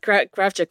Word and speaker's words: Kravchuk: It's supposed to be Kravchuk, but the Kravchuk. Anglicized version, Kravchuk. Yes, but Kravchuk is perfectly acceptable.